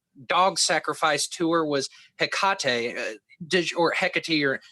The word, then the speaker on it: Hecate: Yeah, so I would say Hecate, and you're spot on.